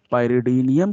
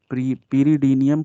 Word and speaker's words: pyridinium: पाइरिडीनियम chlorochromate, some others are pronounce it pyridinium chlorochromate.